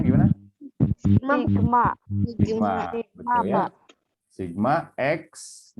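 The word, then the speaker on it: Σ: Dibacanya gimana? Sigma.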